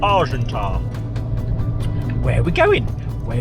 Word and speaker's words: Argentat: off to marsha or as the english call it arjun tsat they pronounce the tea when you don't have to it's actually called argenta where are we going